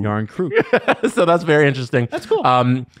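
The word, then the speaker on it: Järnkrok: SO, IT'S NOT Croc or or Croak. It's it's Crew. Yarn crew.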